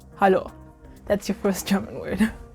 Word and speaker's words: hallo: It's just hallo. So we just swap the E with the A and it's hallo.